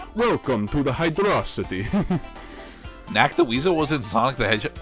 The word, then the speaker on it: Hydrocity: many drowning hazards so you pronounce it as hydrocity instead of hydro city because i have this